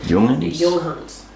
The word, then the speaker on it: Junghans: I know that they sound the J like a Y, so I'm going Junghans.